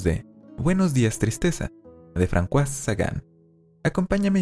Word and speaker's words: François: Y sí, François debería sonar más bien como François.